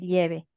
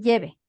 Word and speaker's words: lleve: Él y su familia no te van a decir lleve, te van a decir lleve.